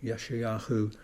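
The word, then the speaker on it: ישעיהו: Yeshayahu is the sort of the Hebrew pronunciation.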